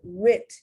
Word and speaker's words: writ: Now notice that W in both writ. Notice a W in both the right and the writ is silent.